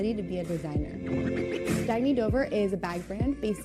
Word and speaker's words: Dagny Dover: Oh, it's pronounced Dagny Dover. Dagny means new dawn.